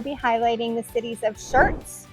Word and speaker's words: Schertz: highlighting the cities of shirt s c h e r TZ but it is shirt pronounced just like the shirt your shirt you're wearing and cbolo which is